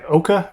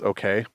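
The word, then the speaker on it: OKeh: coined in 1922 by Oka records I think that's how you say it okay I've always heard it pronounced okay yeah was it okay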